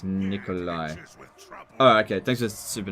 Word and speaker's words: Nicolaj: Nicolaj is pronounced as Nikolai.